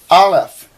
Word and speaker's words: aleph: Beit, ba, resh, r, aleph. They actually say it's a silent letter, and you don't...